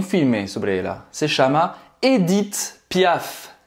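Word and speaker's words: Édith Piaf: Edith, então esse primeiro E, ele é fechado, tá? Não é Edith, é Edith. O H no final não é pronunciado e não é Edith, não é Edith, você vai terminar a pronúncia no T.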